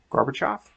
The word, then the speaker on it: Gorbachev: and uh garbage half garbage off garbage hoff grubble shad looks like it's gorgeous but i think it's gorgeous i always remember being pronounced garbage off okay so says president